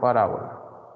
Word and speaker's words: parábola: La letra P representa el parámetro de la parábola. Parábola. Ahí me equivoqué en el acento. Sí la vi medio rara la palabra. Es parábola. Ese acento en la segunda A.